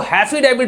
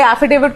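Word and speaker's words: affidavit: अब आपको एफिडेविट को हैफिडेविट बोलते हैं, प्रोनाउंसिएशन को प्रोसेशन बोलते हैं। कैलिफोर्निया यूनिवर्सिटी से पढ़े हुए हैं, बड़े बड़े जगह से पढ़कर आए हैं, तो ये एफिडेविट को हैफिडेविट क्यों बोलते हैं?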